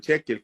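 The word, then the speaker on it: shekel: Hoy en día la moneda en Israel sigue siendo el ciclo, solamente que ahí localmente le llaman chequel, que para uno sería el ciclo. Bueno, ¿cómo se escribe?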